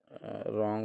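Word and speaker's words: wrong: रॉन्ग knock fast होना रॉन्ग होना knock होना तो साइकोलॉजी डिफरेंट हो जाएगा अब साइकोलॉजी में पी साइलेंट है। रॉन्ग में डब्ल्यू साइलेंट है। नॉक में के साइलेंट है।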